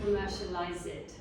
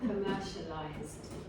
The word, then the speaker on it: commercialized: You say commercialize it. Y eso no en América no se usa. No. Commercialized.